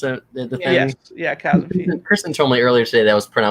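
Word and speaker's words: Chasmfiend: The Chasm Fiend, is that how you pronounce it? The thing? Yes, yeah, Chasm Fiend.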